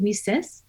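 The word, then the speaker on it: WiCyS: which is w-i-c-y-s and we pronounce it we sis like we sisters because that's exactly what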